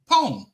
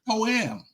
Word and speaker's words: poem: It's not poam. It's poem. It's a one word. It's a That's it. This a one syllable word.